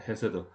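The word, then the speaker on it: חסד: 하나님의 인자하심, 인자라는 말이 히브리어로 헤세드라고 합니다. 헤세드. 가래 끓는 듯한 그 강한 히읗 발음하는 거죠.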